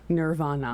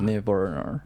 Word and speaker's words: Nirvana: Nirvana. Nirvana. You have too many R's in there. Nirvana. Nirvana.